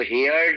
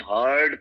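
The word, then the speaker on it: heard: होती है हर्ड और इसको हियर्ड नहीं प्रोनाउंस करते हैं हर्ड प्रोनाउंस करते हैं वी हर्ड यानी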